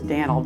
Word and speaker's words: Moody: Daniel Moody, and that's how you say it, is Dan'l, D-A-N''L, was from Tennessee, and he helped build the railroad, the IGN Railroad to Taylor.